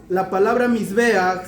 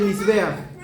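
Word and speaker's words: מזבח: Y si nosotros sacamos la gematría, escribimos la palabra Mizbeach se escribe con una Mem, una Zain, una Bet y una Het.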